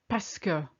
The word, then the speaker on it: parce que: speaker first of all pasca actually means because and we pronounce it pesca almost like p-a-s-k-e if you like pascal and it only means